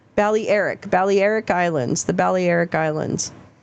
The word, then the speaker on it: Balearic: Carrie says pronounced Balearic. Balearic Islands.